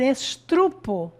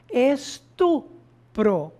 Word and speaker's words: estupro: Muito comum também a pessoa falar estrupo, quando na verdade a palavra correta é estupro, né?